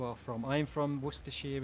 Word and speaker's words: Worcestershire: from i am from worcestershire in the united kingdom or as some parts of the world call it wooster yeah or something like that woo sister i'm from the place